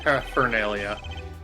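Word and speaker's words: paraphernalia: the uh the r it is technically pronounced per fernia it's just it's a very soft r Olga oi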